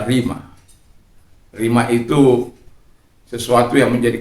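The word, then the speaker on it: rhema: Kalau dia sudah menjadi rima dalam kehidupanmu, orang katakan rema, tapi pronunciasinya adalah rima.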